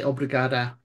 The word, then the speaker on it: obrigada: But Uh, but as you're a female, you'll probably say obrigada.